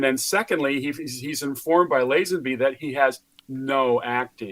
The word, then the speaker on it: Lazenby: Lazenby.